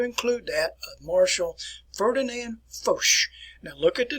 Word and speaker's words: Foch: So if you see the name F-O-C-H, it is pronounced Foch, like F-O-S-H here.